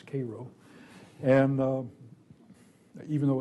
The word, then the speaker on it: Cairo: of riots in Cairo Illinois which is not pronounce Cairo its Cairo and even though it's part of Illinois called